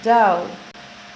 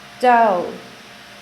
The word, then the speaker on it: dough: 301, dough, dough, dough, que significa masa, y podemos observar en la pronunciación que la GH al final es muda.